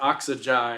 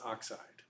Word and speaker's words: oxide: and chlorine becomes chloride oxygen has three three syllables but we just take everything after that first syllable and put ey on there so it becomes oxide it's not oxy is oxide okay so everything after